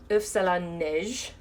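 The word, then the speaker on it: île flottante: an answer on the if salon niche which I still think I don't pronounce right but very kindly this culinary teacher saying I pronounced it perfectly it means snow eggs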